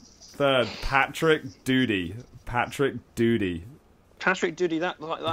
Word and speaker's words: Doody: But it's spelled D-O-O-D-Y, not D-U-T-Y. Doody.